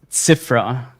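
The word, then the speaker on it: Zyvra: The second winner was Zifra 777Z, but Zifra is being spelled with a Z-Y-V-R-A. So it's Zifra 777Z.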